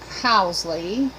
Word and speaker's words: Housley: all these words the English surname Housley our house Lee pronounced H 0 usly Rho u s e le